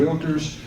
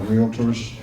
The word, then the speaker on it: REALTOR: the Texas Association of Realtors and the National Association of Realtors. And by the way, realtor is a 2-syllable word.